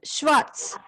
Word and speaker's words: schwarz: Just pay attention to the pronunciations, okay? It's grün, and schwarz.